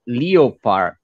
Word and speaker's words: leopard: Leo, and you have part, but it is not leopard. It is leopard?